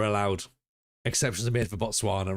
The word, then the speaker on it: Botswana: Botswana rhymes with llama but has no llamas.